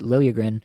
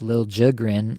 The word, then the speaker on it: Liljegren: Like, they pronounced it Liljegren in Toronto for years. Obviously, he was drafted by the Leafs, so he's only been there. And now it's Lil Jigrin that he's asking, like, it's the player asking